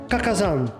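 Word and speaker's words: 花果山: that his name is also a wordplay on Kakazan, which is the Japanese pronunciation of the mountain on which Saiyuki's SonGoku was born.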